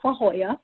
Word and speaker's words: La Jolla: Like, and he's like, "It's La Jolla," and I'm like, "Oh, Well, it's I not don't know spelled how to that way.